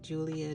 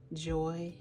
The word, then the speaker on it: Joy: I'm very particular about pronouncing names correctly because my name is very simple, but people say Julia, Joanne, and it's like, no, it's Joy.